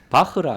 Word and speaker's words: 바흐: 그때 요한 세바스찬 바하라 했지. 네. 바흐라 안 했거든요. 네네네. 근데 독일어로 BACH면 허 발음이 맞죠.